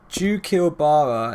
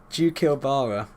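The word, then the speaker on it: Xuchilbara: Jukilbara is how you pronounce it, otherwise known as Valtiel. Jukilbara.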